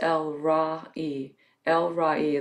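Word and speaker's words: El Roi: as el ragi as spelled r o i but it's pronounced el ra e the god who sees me it's a wonderful way to think of god elroy when you think about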